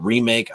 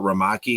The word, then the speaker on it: Ramaki: Now, everyone's calling it remake. I call it Ramaki because that's how it's spelled, and it's from Japan, which is, bacon wrap water chestnut. So I think Ramaki, not remake, is the one that's